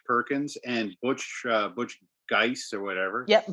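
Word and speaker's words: Guice: and butch uh butch geiss or whatever yeah butch juice is how i always pronounce it he's an old superman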